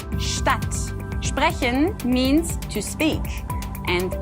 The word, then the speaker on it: Stadt: This one is about the sound of ST and SP in German. It's a very easy rule, but still, I hear a lot of people making mistakes when they pronounce the following words in German. So this is why it's still a very important rule. As an example, we have the words sprechen and Stadt.